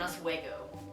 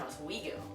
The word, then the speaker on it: Oswego: word and this word I pronounce them is to guard and us away go which is completely wrong it's actually tigard and oswego so that's another thing